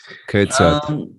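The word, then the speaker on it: כיצד: You have to with some of the Z's in German. You put the T at the beginning of it Mhm. for the pronunciation. So yeah, Okay, sad. Yeah. Ketzad.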